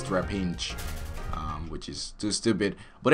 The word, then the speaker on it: Trapinch: God damn it, that name is so hard to pronounce sometimes because there's always, I think there is an N in between A and P, but there is not. So it's Trapinch.